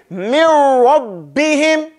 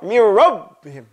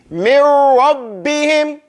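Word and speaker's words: مِن رَّبِّهِمْ: So you have to say, mir rabbihim. It has to be shidda. Isn't one of the signs of ba, one of the sifat of ba, shidda? Mir rabb. Complete it. You know, you can't go mir rabbihim. Nah. Mir rabbihim. And we're paying attention here mostly to the noon going into the ra. Okay? Mirror. Like we say mirror.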